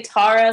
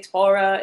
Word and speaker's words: Taura: were you calling me Torah I mean it's okay because some people say Tara some people say Torah it doesn't make a